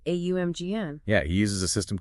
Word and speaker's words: AUMGN: For instance, he alters the primordial starting syllable from Om to AUMGN. Right, AUMGN.